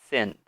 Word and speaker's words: since: important pronunciation it is since this word has an e sound represented by this symbol if we talk about phonetics this symbol is the same sound as the I or